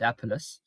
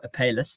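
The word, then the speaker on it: Apalis: But it's bar-throated apelus, or apelus, depending on how you say it.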